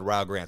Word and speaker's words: Rio Grande: They have their priorities right over at Rio Grande, which, by the way, that's their president who said Rio Grande, so I'm going off of his pronunciation.